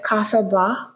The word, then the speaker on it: Casa: today the woman behind Kasa Kasa yeah that's how pronounce it I get it on